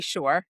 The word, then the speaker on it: Shore: So, for those who I have not met before, my name is Shore. Rhymes with entrepreneur.